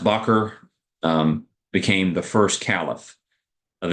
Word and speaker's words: Bakr: And then after he dies, his friend Abu Bakr, it's pronounced Bakr, became the first caliph of Islam.